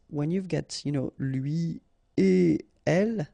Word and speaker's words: lui et elle: So no links after et. Okay, so if you want to read it correctly here, it will go like lui et elle. All right, so don't think about putting something between the two. Don't think about producing something like lui et elle. No, no, no, nothing here.